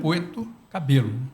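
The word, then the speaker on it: Puerto Cabello: Você pronuncia de acordo com a pronúncia aqui do país, né? Com a sua língua. O certo então, é Puerto Cabelo.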